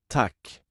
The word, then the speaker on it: tack: The short pronunciation sounds like the A in cat and the long pronunciation sounds like the A in father.